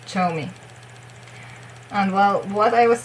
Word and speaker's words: Zhou Mi: So ZH means ch, like in Heechul's name,